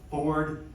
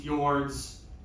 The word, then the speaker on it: fjords: Probably the best example of fjords in the world. And we're not talking about fjords. So when I talk about this to my intro to geology students, they pronounce it Ford, and I have to say we're not talking